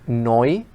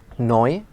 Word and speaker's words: neu: Also the word neu, which means new, neu.